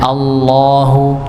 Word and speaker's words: Allah: Misalnya Allahu Allahu wallahi ya tebal karena sebelumnya lafaznya adalah fathah atau dammah.